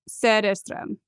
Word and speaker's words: Söderström: I speak Finnish Swedish, so the Swedes might not like my pronunciation either. Gustav Söderström? Söderström.